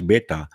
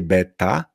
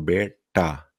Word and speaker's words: beta: jest to te takie to nawet ja mój ten język nie jest w stanie tego tak się bardzo zrolować beta czyli nie beta ta tylko beta czyli jest czasem Nie słychać tego Ale to jest ten dźwięk taki cofnięty i teraz trudność jest